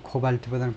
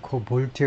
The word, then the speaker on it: cobalt: lithium, nickel and cobalt 영어 발음은 코발트보다는 코볼트에 가깝네요.